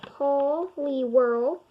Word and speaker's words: Poliwhirl: out of sticky situations how to say it Paul Lee whirl height is 303 metric